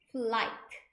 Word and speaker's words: flight: 하실 수 있 입니다 flight 할 때 gh 발음이 안 난다고 생각하시면 돼요 그래서 flight attendant 하면